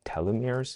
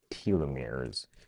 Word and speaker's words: telomeres: I think telomeres is what I've heard it being pronounced as, but Bret seems to be pronouncing it as telomeres, which I'll make note of.